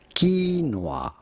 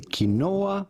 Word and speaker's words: quinoa: We are looking at how to pronounce quinoa. Quinoa. You do want to stress on the first syllable rather than the second one. Do not say kinoa, but rather right quinoa.